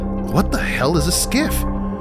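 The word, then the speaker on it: SCIF: be presented in a skiff. But what the hell is a skiff? All I know is it rhymes with Jif and I love peanut butter.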